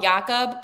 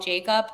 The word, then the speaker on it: Jakub: But then A minute after that goal, Jacob, I always want to call him Jakob because I know that's how you actually pronounce it, but then people call him Jacob.